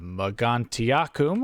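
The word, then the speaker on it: Mogontiacum: moved over near uh magantiakum that's how i choose to pronounce that and as you can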